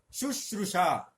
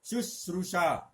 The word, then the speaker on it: शुश्रूषा: शासन, शुश्रूषा, सेवा, शुश्रूषा, इस शब्द पर ध्यान दीजिए, अक्सर इसकी अशुद्धि होती है, हम इसको शुद्ध लेखन में सिखाते हैं। शु, श्रु, शा, यह दोनों तालव्य हैं, ये मूर्धन्य है।